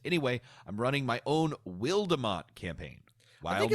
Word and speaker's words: Wildemount: And I think it's just got an extra E because Matt Mercer thought it looked cool. So just because the way that English works, it wouldn't be pronounced that way. We'll say it Wildemount. Wildmount.